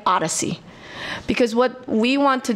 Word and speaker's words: OHDSI: informatics nobody remembers that everybody calls it Odyssey and don't spell it like The Odyssey as a journey okay it's ohd si